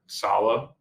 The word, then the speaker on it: Saleh: So it's also, initial reaction was interesting because a lot of people picked Robert Saleh. Did I pronounce his last name?